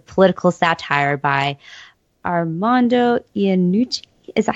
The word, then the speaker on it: Iannucci: And Death of Stalin, in like big 180, is a sort of political satire by Armando Iannucci.